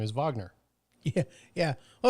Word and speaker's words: Wagner: Same thing with, when people speak German, they think, well, that guy's last name is Wagner. No, his last name is Wagner.